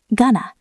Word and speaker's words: gonna: It is a very relaxed sound. The mouth barely moves. Gonna I'm going to leave soon.